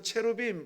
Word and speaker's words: 케루빔: 그룹들이 아니라 신비로운 존재 케루빔 이라고 하기도 하죠 영어 발음에서 채로 빔 이렇게 하는데요 뭐 천사들의 어